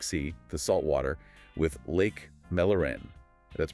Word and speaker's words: Mälaren: It connects the Baltic Sea, the saltwater, with Lake Mälaren. That's pronounced M-E-8-Laren, freshwater.